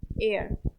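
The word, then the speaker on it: heir: शुरू हो शुरू हो बट एच क्या है हमारा साइलेंट है ए को प्रोनाउंस नहीं कर रहे हैं उन सारे वर्ड्स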